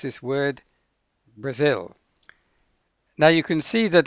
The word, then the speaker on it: Brazil: syllable is zil now the stress is on the second syllable and so an English person pronounces this word Brazil now you can see